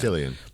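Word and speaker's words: Cillian: He pronounces it Killian. Killian. But okay, all right. So But it doesn't look like Killian because it starts with a C.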